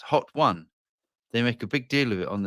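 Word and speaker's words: Hotone: It says pronounced Hot One.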